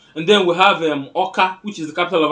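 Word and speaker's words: Awka: of an umbra state orca is o k a but it's spelled a w k a so whatever they found o they replaced it with aw you find it in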